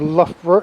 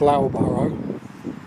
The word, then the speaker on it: Loughborough: recast by Taylors of Loughborough in 1912. And if you were to read that, you'd think it was pronounced Loughborough. It's pronounced Loughborough.